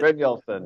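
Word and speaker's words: Brynjolfsson: Bryn Nielsen.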